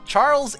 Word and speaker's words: xujhan: Charles is the canonical pronunciation of xujhan.